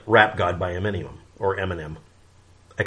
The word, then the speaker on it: Eminem: could be interpreted as Eminem or enema. It's subject to interpretation. We get some humor out of it. But by having the embarrassment of mispronouncing Eminem's name, because it's Eminem, sorry, like millennium, we learn the correct spellings and stuff.